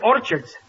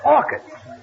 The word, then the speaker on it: orchids: Last night, I took my girl to a movie and bought her some orchards. It's not orchards, it's orchids. The CH is pronounced like K.